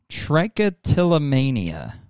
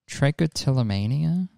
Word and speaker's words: trichotillomania: So, I have suffered from trichotillomania. Trichotillomania?